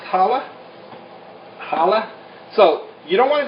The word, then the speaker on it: challah: okay spelled with the c-h-c-h-a-l-l-a okay but it's pronounced challah challah so you don't want to go too